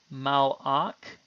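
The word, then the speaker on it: מַלְאָךְ: In the word mal'ak, the schwa is silent.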